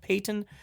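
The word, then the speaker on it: Paton: For people who are wondering, where's this George Patton? Or I think it's pronounced Payton.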